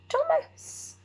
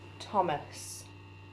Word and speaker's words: Thomas: we spell your name is there a silent letter there is isn't there goes here but we can't hear this thomas the hook goes